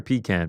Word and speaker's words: pecan: Technically, phonetically, it's Pecan. pecan. It's pecan. I get that, but it's pecan. Everyone's like, "You're from the South. You got to say pecan."